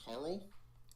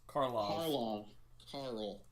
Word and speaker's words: Karlov: did you say his name's Carl? Karlov.